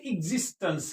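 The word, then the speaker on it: existence: मैंने लिख रखा है तो इसे क्या पढ़ेंगे एक्जिस्टेंस क्या पढ़ेंगे क्या पेंगे इस्टस स्स्टस यानी एेंस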